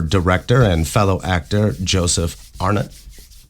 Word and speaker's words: Arnott: Today I have my former director and fellow actor Joseph Arnut.